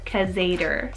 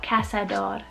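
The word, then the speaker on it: cazador: cassador or crusader or kazader so there's a couple different english pronunciations super cool casador i love it in spanish and this one is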